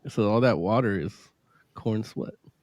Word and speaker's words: Corenswet: Let let's start with uh uh freaking uh and is it Cornswe? Is that how you say his name? Yeah, corn sweat. Yeah, Cornswe.